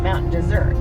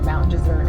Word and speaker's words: Mount Desert: But when he said Mount Desert, he said it Mount Desert because he's French, but it is spelled desert. I know. So we call it either here Mount Desert or Mount Desert, but around the state